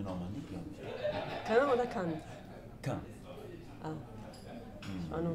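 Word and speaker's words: Cannes: die französische Aussprache gelernt ich glaube dann heißt es aber kann kann kan ist eine andere Stadt da ist das Filmfest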